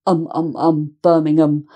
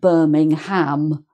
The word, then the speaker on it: Birmingham: So this is Birmingham, Birmingham, not Birmingham, but Birmingham.